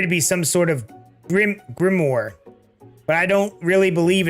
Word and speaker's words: grimoire: It appeared to be some sort of grimoire, but I don't really believe in that magic stuff. A grimoire? I can't even pronounce that word.